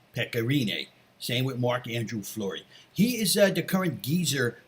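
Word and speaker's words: Marc-André Fleury: First off, when you pronounce his name, you have to say it all like that. Marc-Andrew Fleury.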